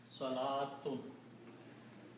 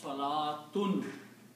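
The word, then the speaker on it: صلاة: The word that we can create from this is Salatun. Salatun means prayer. Salatun means prayer. This is also written one more way. It is written with a vav, but vav is not recited. Salatun.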